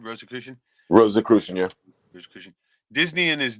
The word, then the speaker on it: Rosicrucian: Rosicrucian, yeah.